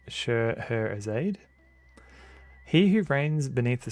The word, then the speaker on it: Scheherazade: Scheherazade rhymes with sod.